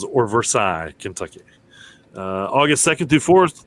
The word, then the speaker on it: Versailles: I believe they like to pronounce the S on the end in Kentucky.